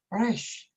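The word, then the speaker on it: ריש: 이 래쉬라는 것이 발음이 좀 독특한데 영어로 하면 R 같고 한국어로 하면 히읗이나 리을을 같이 한 것 같은데요.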